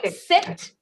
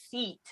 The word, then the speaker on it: seat: is um there is a slight difference between the way you pronounce seat like this and sit so sit is more uh is like has a shorter vowel sound so it's sit and the other one is seat so it's a little